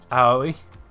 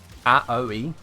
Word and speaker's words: Aoi: It's pronounced Aoi. Aoi. Aoi.